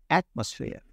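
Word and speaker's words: atmosphere: হতো তখন আপনি এখানে আর উচ্চারণ করতে পারতেন কিন্তু আমরা যেহেতু ব্রিটিশ উচ্চারণ করি সেজন্য তারা সাধারণত একটা ওয়ার্ডের শেষে আর উচ্চারণ করে না এজন্য উচ্চারণটা হলো অ্যাটমোস্ফিয়ার okay Times pronunciation of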